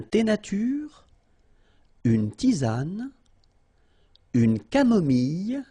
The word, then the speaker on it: camomille: Un thé nature, une tisane, une camomille. So remember when we get this E and then double L, it goes like y. Mille, camomille, une camomille, un